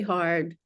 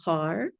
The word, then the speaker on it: Har: you pronounce the r have your tongue on the roof of your mouth sort of on the right behind the teeth for heart it makes